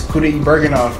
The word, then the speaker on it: Kudaibergen: The last time I checked, it was Kudaibergenov. Now it's pronounced Kudaibergen.